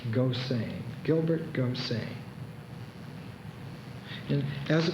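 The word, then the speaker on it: Gosseyn: s s e y n that can be pronounced Goan Gilbert Goan and as a protagonist gain is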